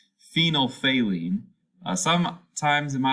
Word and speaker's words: phenolphthalein: like just a collection of consonants but it's phenol phalene uh some times in my life i've heard people pronounce it phonothalin but that sounds kind of weird so i've always heard it as phenolphthalein so phenolphthalein is colorless in the presence of